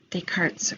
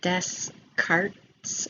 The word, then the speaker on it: Descartes: um that looks like d-e-s-c-a-r-t-e-s a lot of students not knowing how to pronounce it assume that it's pronounced Descartes or Descartes but it's pronounced Des cart is how you pronounce that I don't know why